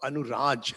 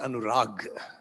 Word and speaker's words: Anuraj: what's your name anur you spell it with a J but how is it pronounced oh anuraj not anurag okay anaj okay so